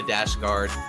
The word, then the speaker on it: Dashtgard: reach out to Pasha dasg guard p a ha a d a s h t the t is silent g a r d